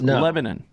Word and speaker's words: Lebanon: there's a Lebanon Missouri yes but you don't pronounce it say lemon it's Lebanon Lebanon and and I don't know if the